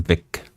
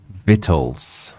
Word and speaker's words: victuals: how pronounced vle V oh it's not Vic it's fit the sea is silent vitt what is vittles it's